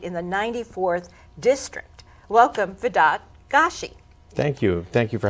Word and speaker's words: Vedat Gashi: you to say thank you thank you so Vedad Gashi is that the correct pronunciation that is the correct pronunciation okay because